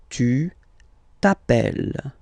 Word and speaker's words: t'appelles: Okay, remember, final s not pronounced. Tu t'appelles.